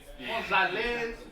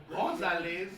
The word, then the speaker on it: Gonzalez: Gonzalez. Gonzalez. I didn't know the G was pronounced like an H.